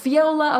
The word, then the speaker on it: Fiola: do you say your last name the correct pronunciation of your last name I feel laughs viola okay great I thought what I thought it